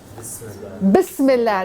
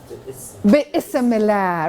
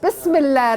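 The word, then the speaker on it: بسم الله: most gracious most merciful how do you say that bismillah not be similar right just bismillah r-rahman r-rahim never be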